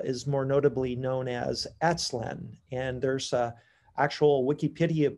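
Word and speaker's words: Aztlan: called more uh is more notably known as atslan and there's a actual wikipedia page on atslan it's spelled a t z l a n and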